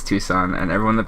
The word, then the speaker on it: Tucson: It's pronounced Tucson. I thought it's Tuscan. Nope, it's Tucson, and everyone that pronounces it Tuscan is wrong.